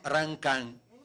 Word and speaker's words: Rancan: Allora pronuncio esattamente Ranca, perché è una vita, ho 71 anni, una vita che mi storpiano sia il nome che il cognome. Va bene. Rancan, sono un cimbro, Veneto, Regione Veneto, Friuli.